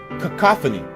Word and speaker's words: cacophony: Cacophony.